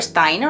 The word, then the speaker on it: Steiner: por su lado tenemos a rudolf steiner o steiner o como se pronuncia en alemán que desarrolló el método Waldorf